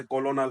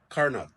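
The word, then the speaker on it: colonel: एक रैंक होती है लग रहा यह कोलोनल है लेकिन इट ज कर्नल कर्नल कर्नल शायद यह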